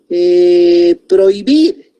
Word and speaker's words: prohibir: Por ejemplo, yo puedo decir prohibir. Estoy uniendo dos vocales en la primera sílaba, o I, pero tiene H intermedia, prohibir. Ahí hay diptongo, entonces esa H intermedia es muda, por consiguiente hay diptongo, prohibir.